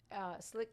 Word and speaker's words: Slique: For the people that don't know how you spell slick. Not slick. Yeah. Right, spell it. S-L-I-C-K. Right. SLIQUE, like French, but whatever that means.